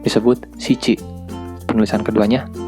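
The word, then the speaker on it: 七: Untuk angka 7 disebut shichi. Penulisan keduanya nana.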